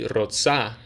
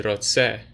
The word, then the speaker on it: רוצה: A woman says, Ani rotsa. A man says, Ani rotse. If you were to look at the text, you'd notice the spelling is the same, but the pronunciation changes slightly.